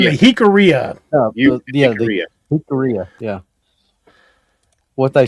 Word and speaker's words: Jicarilla: Jicarilla, yeah. What they said. Just pronounce the J like an H, and then it's pretty much common.